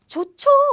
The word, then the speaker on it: 좋죠: Remember, the aspirated version of this is ch.